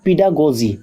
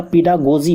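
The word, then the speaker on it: pedagogy: Next है पीडागोजी। ये words, हाँ ये प्रोनाउंसिएशन ध्यान रखिएगा, पीडागोजी पढ़ते हैं इसे, पीडागोजी।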